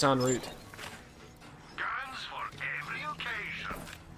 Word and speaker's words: en route: I think it's en route. Guns for every occasion. I believe en route is the actual pronunciation, good sir.